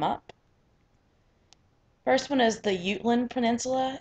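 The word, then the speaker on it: Jutland: as they come up first one is the utland peninsula it's spelled j u t l a n d it's spelled like jetland but it's pronounced you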